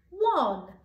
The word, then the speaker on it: one: And the bit that's tricky is this O, because you can hear the W at the beginning, but there is no W in that word.